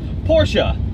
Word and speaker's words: Porsche: not super low girl Porsha not American just say Porsche I think it's actually the Germans actually put on something fortunate yeah like eh Porsche it they say it different but it's not Porsche it doesn't rhyme with porch no it's definitely not a porch and it is not